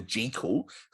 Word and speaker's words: Jekyll: got dr kildare the dr jekyll or as my friend boo genesis says dr g cool apparently that's the original pronunciation and oh doctor so